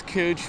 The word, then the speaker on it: Couch: From what I hear, it's Cooch, but I would prefer Couch, personally.